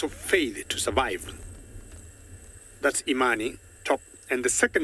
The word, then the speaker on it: Imani: So choose between Imani, that's the first one, how we pronounce it, and the second one is Jasiri.